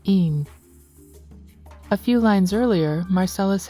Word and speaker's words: en: In Danish, one is pronounced een, and this line would sound like twice one in Danish, twice een.